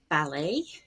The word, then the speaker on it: ballet: t gets pronounced but a t at the very end is usually silent and we have borrowed the word with sort of french pronunciation with the stress at the end for example ballet chalet gourmet coup d'etat